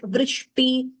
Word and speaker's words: वृष्टि: Here, all these also note like vrishti, griha, griham, all these r, that rikara should be clearly heard.